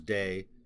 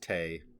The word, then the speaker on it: Te: I just checked I always thought it was day because Dao t-a-o is Dao uh but according to what I looked up online they said it's pronounced Tay I don't know but uh apparently means virtue